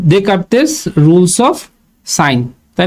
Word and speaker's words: Descartes: scheme আর হচ্ছে কি ডে কারতেস rules of sign তাই না আমরা পড়ছি এটার নাম লেখা হচ্ছে ডস কারে কিন্তু আমরা তো জানি যে এটার উচ্চারণ হবে কি ডকারতে রুল অফ সাইন্স আচ্ছা এরপর রিলেশন বিটুইন